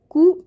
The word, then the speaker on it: coup: Coup d'etat, also called as a coup. So although there's a p there, but that is silent and it is known as a coup.